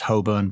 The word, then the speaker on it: Holborn: now carry on okay also I think it's pronounced Holborn but carry on set the scene we're in Red Lion Square Hoban probably a thing on the screen blah blah